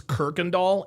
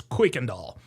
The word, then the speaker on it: Kuykendall: And by the way, a lot of people pronounce this Kirkendall. It's not pronounced Kirkendall, it's Kuykendall.